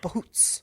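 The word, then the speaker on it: bhoot: I looked it up, how to pronounce it, bahoots.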